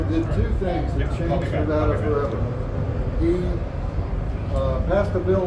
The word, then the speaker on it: Nevada: The pronunciation is Nevada. It has always been Nevada. Every person born in Nevada calls it Nevada. I have heard correspondents on TV call it Nevada. It's not Nevada. It's Nevada.